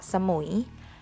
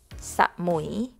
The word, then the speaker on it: สมุย: pronounced เกาะ สุย เกาะ สมุย หุย is Just One syllable So Don't Break it down หมุย สมุย เกาะ สมุย just the location of